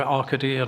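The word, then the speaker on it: ARCADY: report page 70 paragraph 6.35 it describes the rkd or arcadia now it's pronounced software being used to assess capacity for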